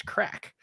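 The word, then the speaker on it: craic: said interaction it's the the Gaelic word is crack and it's spelled c-r-a-i-c what's the crack yeah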